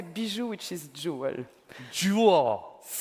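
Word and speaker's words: bijou: But here I say biju, which is jewel.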